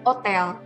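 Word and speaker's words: hôtel: tidak akan dibunyikan ya contoh misalkan hotel-hotel itu dalam bahasa Perancis juga sebetulnya sama Hotel cuma dilafalkan ya haknya tidak dibunyikan jadi Otel ya Aturan ini juga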